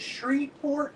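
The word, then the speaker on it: Shreveport: from Louisiana is it shreport which I've been I've been told by numerous people man don't don't you don't pronounce the V that's where I went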